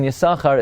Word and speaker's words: Yissachar: is this says that this is the reason why the sin in yasahar is not pronounced and that is because